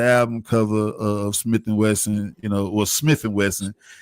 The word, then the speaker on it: Smif-N-Wessun: Or Smif-N-Wessun. It's crazy to have to really be able to say it the way we pronounce it, but you be sometimes trying to correct yourself and still say Smith.